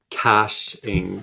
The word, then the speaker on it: caching: Caching. Thank you, Patty, for helping me pronounce it.